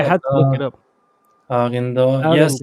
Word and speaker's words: Arundel: I don't know how to pronounce it. I had to look it up. Arindo. Yes, Arundel.